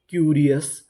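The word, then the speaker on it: curious: CU इसे यहाँ पे पढ़ेंगे Q, RI री, क्यू री, OUS अस, क्यूरियस, क्यूरियस, क्यूरियस का मतलब होता है उत्सुक।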